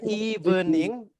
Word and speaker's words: evening: Oke, jadi teman-teman untuk pelafalannya hanya dilafalkan dengan 2 syllables ya guys, dengan if dan ning ya, evening. Jadi bukan evening, but only 2 syllables, if dan ning, evening.